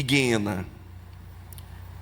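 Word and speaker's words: γέεννα: gregas: Rades, tártaro e Guena. Se escreve gena, mas o o G no grego G não tem som de G.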